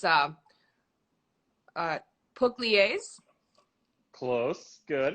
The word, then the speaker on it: Pugliese: good it's good robert there's actually no there's no right way to say my name in english because it's an italian state called puglia so my name is but i tell everybody puglisi okay the way you